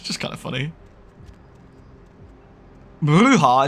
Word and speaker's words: bruja: Bruja is pronounced bruja. It's Spanish, I think, right? For witch? Bruja.